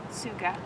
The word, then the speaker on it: Tsuga: hemlock genus is Suga it's a silent T so it's TS G Suga um they're usually uh